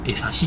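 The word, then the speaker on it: 江差: 俺様最初ね、エサって読むなと思ってました。エサね、なんか動物のエサみたいな名前だなと思ってたけど、エサシって読むみたいです。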